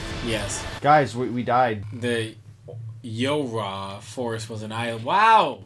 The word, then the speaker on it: YoRHa: I think this is how you pronounce it. It's Yorha. It's Yo-Ra. Yo-Ra. Yo-Ra. That's how you pronounce it. Yo-Ra.